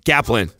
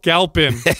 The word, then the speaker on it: Galpin: Galpin. No, Galpin.